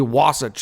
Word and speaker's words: Wasatch: I think that's how you pronounce it. Wasatch. I think it's be Wasatch, I believe is how you would say it.